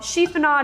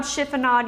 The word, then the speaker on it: chiffonade: with our basil called cheapen odd chiffonade you may hear it pronounced both ways so you're simply going